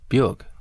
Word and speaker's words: Björk: I'd love to meet her, but what's the proper way to pronounce her full name? Björk.